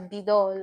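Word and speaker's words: 믿어: So midor is, you pronounce it as bidol actually.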